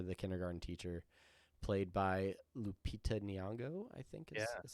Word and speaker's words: Lupita Nyong'o: But yeah, so then he moves on and it has the hots for the kindergarten teacher, played by Lupita Nyong'o, I think Yeah, is how that's yeah, pronounced.